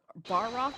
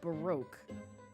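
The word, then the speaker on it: Barok: well then Mr norodo is it Barack bar rock or baroque that I think it's bar Rock you know what I'ma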